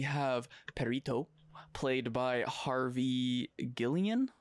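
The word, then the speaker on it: Guillén: Then we have Perito, played by Harvey Guillen. Guillen, yeah.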